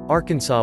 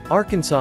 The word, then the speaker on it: Arkansas: Arkansas is not pronounced the same way as Kansas. While it is most likely that Arkansas and Kansas both come from the same root word, their pronunciation is wildly different.